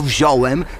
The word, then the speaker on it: wziąłem: tylko wziąć wziąć Oczywiście jak piszemy to wziąłem wzięłam wzięli ale jedyna dopuszczalna forma w wymowie to wziąłem wzięłam wzięli samogłoski nosowe przed l i e tracą swoją nosowość No wiadomo no bo